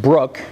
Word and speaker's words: Brooke: remember their names and my last name is BR 00 ke is pronounced Brooke and I call myself